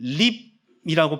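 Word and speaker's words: ריב: 단어가 조금 특별하기 때문입니다 자이 단어는 립이라고 발음이 되 일반인 싸움이나 다툼을 가르치지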